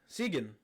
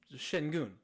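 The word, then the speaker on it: Şengün: She said, "Segan." Ooh. Segan. I said, "Spell that." Seagun. I said, Shengun.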